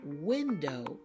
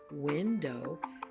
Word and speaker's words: window: well if you said window you got it write window has the W sound at the beginning and it has the W at the end but the W is silent tree does not have